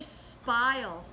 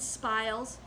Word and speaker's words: spile: The next thing we need is a spile, and it rhymes with the word smile, and it looks like this.